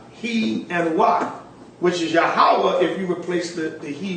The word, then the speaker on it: Yahawah: YAHAWAH, which is Yahawah. Really, we just broke that down. That this seems to be the true Hebrew pronunciation of the divine essential name, Yahawah. Jehovah will appear more obvious